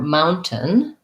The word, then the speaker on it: mountain: a n combination so mao mountain has the ow diphthong so you can think about it kind of like an ow and then what we do is this one is a stop t mount so we don't really say it we just do a very short end and then another short